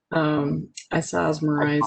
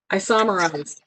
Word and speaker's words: isomerize: Isosmerize. I cannot say it correctly. I'm sorry. I botched it. I totally botched it. Isomerize.